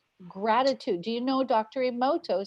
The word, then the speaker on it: Emoto: The Japanese, and I can always get his name wrong, Matsumoto is what I want to say, but I think that's not right. Yeah. Emoto, thank you.